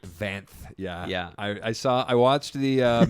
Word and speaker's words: Vanth: Oh yeah, you called him Cobb Vance. It's Cobb Vance. Vanth.